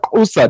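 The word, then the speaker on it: Xhosa: They call it Kosa. They're not the Hosa. Like, say it right, bro.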